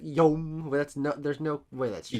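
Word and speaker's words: Jaume: How do you pronounce this woman's name? Jean Collet Sarah? We pronounce it Yom. There's no way that's true. Yom?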